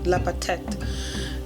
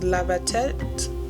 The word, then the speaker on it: Lapatet: The first ones are the Itens, and the second are the Lapatet. And apparently it's pronounced Labatet because Kalenjins don't say the P very pronounced.